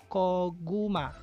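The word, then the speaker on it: 고구마: First syllable is ko. Second syllable is gu. Third syllable is ma. Koguma.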